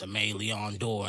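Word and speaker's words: Aimé Leon Dore: say it and i'll be like nah it's amalia on door and i think people just love me saying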